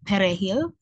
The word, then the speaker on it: perejil: And the Spanish word for parsley is perejil, but the issue is that those with native Haitians, they can't pronounce it. They can't roll the R, so it sounds very different, and that's what they've used to kind of distinguish that.